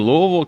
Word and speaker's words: Louisville: Albert Mohler is president of the Southern Baptist Theological Seminary in Louisville, Kentucky. Did I pronounce it right?